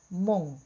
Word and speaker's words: krungu: U ini kita membacanya mendekati huruf O. Mong. Jadi bukan mung tapi mong.